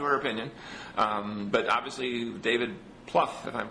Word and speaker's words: Plouffe: But obviously, David Plouffe, if I'm pronouncing his name correctly.